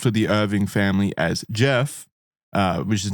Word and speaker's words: Gef: the Irving family as Jeff, uh, which is not pronounced GE, even though it's spelled with a G, it is pronounced Jeff.